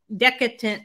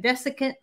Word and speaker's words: desiccant: So she just put one of these little decadent, is that how you say it? Desiccant? That's silicone gel. She calls it a desiccant. That's what she called it. I don't know what that's silicone. It's not. It's a desiccant.